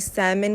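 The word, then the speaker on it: salmon: नहीं मालूम था कि जी सैमन का एल साइलेंट होता है ठीक है चलिए ये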